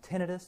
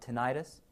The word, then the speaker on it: tinnitus: Cinchonism is characterized by blurred vision, tinnitus or ringing in the ears, and it is pronounced tinnitus, not tinnitus, and then also headache, and then sometimes disorientation and psychosis.